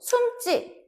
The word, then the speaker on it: 숨지: 뭐 벽장엔 숨지 마. 이렇게 이야기하면은 숨지 마. 마찬가지로 숨지. 요렇게 올 수 있겠죠. 숨찌 마. 이렇게 올 수 있겠죠. 그죠?